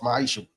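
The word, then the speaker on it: מעשר: chapter 3 verse 8-10 means 10th in Hebrew and is pronounced maisha 10% of every penny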